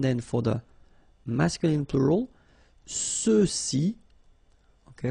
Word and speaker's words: ceux-ci: Same thing with the feminine form, celle-ci, celle-là, alright, and then for the masculine plural, ceux-ci, okay, remember final X is not pronounced, so you get the sound ce, ceux-ci, and then ceux-là.